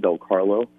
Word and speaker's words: Del Carlo: It's 2 T's, and then it's phonetically spelled Del Carlo.